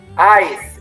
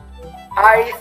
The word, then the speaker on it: Eis: Ice, exactamente. Acuérdate, huevo se escribe EI y se lee I, ¿no? Entonces, cuando ves un EI, siempre es I.